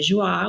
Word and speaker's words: Joi: And the women's side is Joy, and it's spelled Joi. So some people say Joie, which is also fancy.